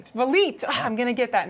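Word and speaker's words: Vliet: Villet, is that how you pronounce it? Valite.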